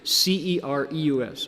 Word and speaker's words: Cereus: So I bring you both the Udumbara flower that looks like this and the incredible night blooming Cereus, C-E-R-E-U-S, Cereus, C pronounced S, night blooming Cereus flower, because they share a name, but they're different creatures.